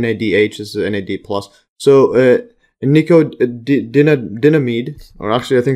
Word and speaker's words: nicotinamide: I think this is pronounced nicotinamide, like nicotine. So nicotinamide. NAD exists in two forms: